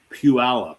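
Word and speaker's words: Puyallup: So it's pronounced puallup.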